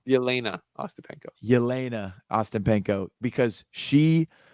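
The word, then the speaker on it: Jelena Ostapenko: to Lil Wayne Uh Jen Austin Peno did I say it right did little Wayne tweet about Jenna Austin Peno oh yes bro yena Austin Peno yena Austin Peno because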